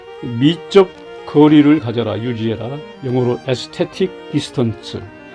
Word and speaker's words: aesthetic: 영어로 aesthetic distance. 미국 사람들은 에스테틱을 에스테릭이라고 발음합니다.